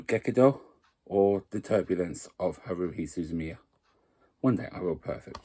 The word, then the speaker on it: Haruhi Suzumiya: suzumi I can never say her name right Haruhi Suzumiya there we go um there's the front probably